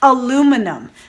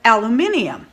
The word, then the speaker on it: aluminium: it the same because we have one less syllable than those in the uk do which they pronounce it aluminium now i think it's